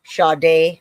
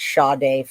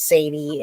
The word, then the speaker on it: Sade: Okay, y'all, it is Sade. We just heard that. Everybody was correcting me. Let's say it correctly now. It's Sade, folks. Sade. All right. I got to make myself say that. There's so many times I thought it was Sadie, and then I just was